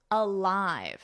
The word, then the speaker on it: alive: Alive.